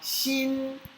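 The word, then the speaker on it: 心: se você estiver falando sorrindo, ajuda muito a pronúncia. Di, ti, xi. Então a gente vai falar xin, xin.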